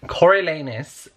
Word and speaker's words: Coriolanus: right then wait Coriolanus Cory Coriolanus Coryell a Coriolanus snow is how you pronounce his name basically got introduced to him